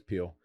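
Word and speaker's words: Piel: There's an island in England called Pile or Peel. I don't even know how to say it. I don't care how you say it. I'm the king now. It doesn't matter. It's Peel.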